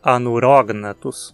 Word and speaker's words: Anurognathus: Nonatos ou a neurônios a sílaba na que é a penúltima é simples sem nenhum dos requisitos para cetônica de novo logo a pronúncia anurognathus e se dizemos a